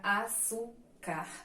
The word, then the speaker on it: açúcar: é oxítona temos lá as paroxítonas que são as sílabas que tem que a penúltima sílaba mais forte Então temos aqui o exemplo a palavra açúcar Então temos a sílaba Sul e já tem última sílaba Então ela é paroxítona e temos as proparoxítonas